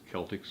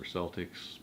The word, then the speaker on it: Celtx: one I used is Celtx or Celtics I've heard it pronounced both ways Cee LTX it's a